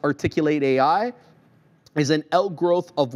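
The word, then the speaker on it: Articul8 AI: articulate articu and then 8 and then AI pronounced articulate AI is an out growth of work on corporate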